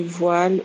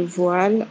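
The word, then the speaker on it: voile: adequada aqui neste podcast na França os vinhos do jur que são eh de voal o s voal a gente fala V de voil ou v s voil que é o v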